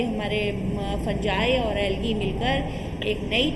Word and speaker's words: fungi: फंजाई. फंजाई FUNGI. देखो pronunciation बहुत बड़ा इशू नहीं है, लेकिन हाँ